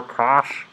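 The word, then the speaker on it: cosh: are the trig function yeah that's how you say it yeah you could put the c in there if you want um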